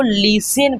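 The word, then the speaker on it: listen: LISTN को लिसन पढ़ेंगे। क्या पढ़ेंगे? लिसन टू her carefully.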